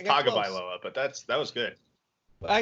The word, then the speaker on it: Tagovailoa: It's Tagovailoa, but that was good.